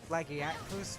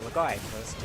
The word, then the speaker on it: Lagiacrus: the fact that they've been pronouncing laggy actors wrong this entire time? Like the entire community has. I still prefer calling it Lagiacrus just because I've been calling that shit Lagiacrus ever since Pre-Ultimate, so ever since I first started playing Monster Hunter.